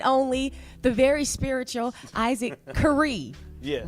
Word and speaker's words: Carree: the very spiritual Isaac K yes right I said it right like they had it spelled wrong on the memo that's so good I've been calling you Carrie all week it's K how you doing I'm well